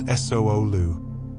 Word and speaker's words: sulu: The sulu, pronounced solu, is the traditional Fijian garment, similar to a saurong, worn by both men and women.